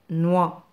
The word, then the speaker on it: noix: N avec le son wa se prononce noix. Noix.